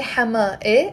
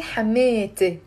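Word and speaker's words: حماتي: which is the e, I'm not going to say Hama e. I'm going to say Hamete. Say with me out loud. Hamete. Three syllables.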